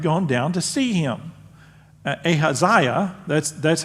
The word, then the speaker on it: Ahaziah: of Judah had gone down to see him ahaziah that's that's how you pronounce that so there's a hasaya is there